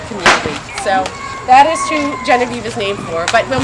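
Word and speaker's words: Geneviève: How would you pronounce Genevieve in French? Genevieve.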